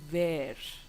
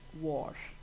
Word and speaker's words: were: Don't say where. Where becomes a place. You're asking for a place. So it has to be pronounced as war.